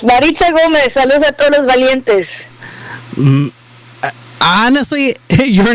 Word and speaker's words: Maritza Gomez: It's Marita Gomez Valentes.